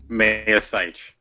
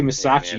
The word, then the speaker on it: Mayasich: How do you say your last name? Mayasich. Mayasich? I always want to say Masachi Yeah, or something. No, the last I is silent.